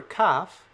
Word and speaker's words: kaf: Well, for kaf, the one that we can continually pronounce is that sound that's just like het. The one that's a stop is like the letter K in the word kid. K.